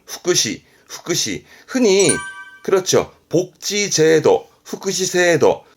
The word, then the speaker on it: 福祉: 발음은 후쿠시, 후쿠시.